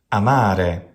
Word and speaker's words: amare: Amare is a classic example. Amare. This word sounds exactly as it does in modern Italian.